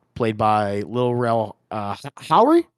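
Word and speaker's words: Howery: of uh Rod played by little real uh Howry Howry is how you say his name and I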